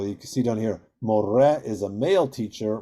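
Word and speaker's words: מורה: can see down here, more is a male teacher, mora is a female teacher. And that hey at the end is silent in both cases.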